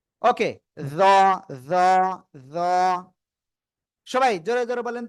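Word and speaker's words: ظ: জিহ্বার আগা, সামনের উপরে দুই দাঁতের আগায় লাগিয়ে মোটা আওয়াজে উচ্চারণ করব। জ, জ, জ, এভাবে।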